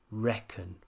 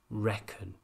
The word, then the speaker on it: reckon: answering very serious questions make sure you pronounce the vowel here correctly reckon did you hear the sound one more time reckon the next phrase in